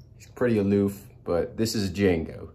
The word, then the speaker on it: Django: aloof but this is Django the D is silent Sam the Pearl Bower